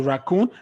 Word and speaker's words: raccoon: two syllable words exceptions any words that ends with o o n the stress itself is on the o o n am i claire yes go to raccoon let's give another one now you know this guy baboon did you see there it's not on the first it's on the second one yes so good